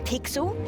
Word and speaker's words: Pixel: name's not weird guy i'm pixel it's easy to remember because it rhymes with pickle so it does i'm